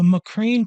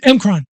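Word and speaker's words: M'Kraan: It was the Macrane crystal sword forged from the crystals of Macrane, the sword. Emkron? Emkron.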